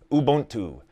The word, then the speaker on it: Ubuntu: Ubuntu.